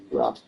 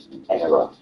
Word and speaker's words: era: it's usually said as ura okay era of iron for example now era is how the Americans say it error or era and